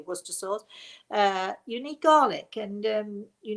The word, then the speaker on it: Worcestershire: need red wine vinegar, you need Worcester sauce, or as you say in America, Worcestershire sauce, but it's really Worcester sauce.